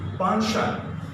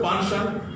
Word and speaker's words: penchant: Written and spoken, French-based word. This word is penchant. The word, this one, possible that many viewers may not have idea about phonetics, so they'll be getting problem. So I am pronouncing it many times. Sound is penchant.